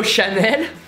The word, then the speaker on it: Chanel: know or Saudi or do Shannon which is like Shannon which is really hard to pronounce French world because there's the French are but without the uh-huh so in the end it's easier and catchy this is so Shannon which is easier because you don't have the French ah no cap ta just